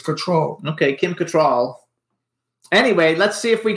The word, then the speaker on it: Cattrall: think so too I think her name is pronounced control yeah not control people say control but it's control okay Kim Cattrall anyway let's see if we can get her